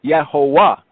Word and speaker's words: Jehovah: So if we were pronouncing it from the original translators, the so-called Jehovah, it would be Yehovah, Yehovah, because the V has a W sound in German.